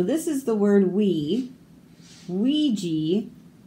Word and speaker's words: Ouija: Ouija, Oaxaca. Makes a W sound, but spelled with an O.